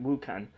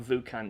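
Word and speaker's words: Wucan: Wukan, not Vukan. Wukan.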